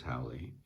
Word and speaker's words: Howley: And then Howley, like that, as we said, that's how we pronounce his name. And again, you know, he can pronounce it any way he likes, but we pronounce it as Howley.